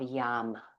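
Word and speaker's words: yam: And we'll chant the sound of yum with a Y. It's kind of like it's spelled Y A M, but we pronounce it like you're saying something tastes good, like yum.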